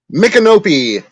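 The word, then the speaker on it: Micanopy: of course mikkonopi mike how do you pronounce that pat mcanopy nick and opie jesus i knew that i was named after chief mick kenobi so there's a little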